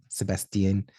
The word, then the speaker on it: Sebastien: out um all right Sebastian am I pronouncing your name right because absolutely Sebastian yeah okay I didn't know I'm actually French so it's that's why I'm asking Sebastian that's the best yeah